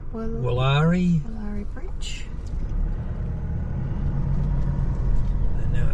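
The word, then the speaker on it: Willare: How would you pronounce the bridge name? Woollari.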